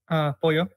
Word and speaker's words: pollo: Pollo. Pollo. They will say pollo, but for Argentina it's pollo. Oh, wow. So it sounds completely different. Yeah. Our double L's we pronounce them like sh, like a SH.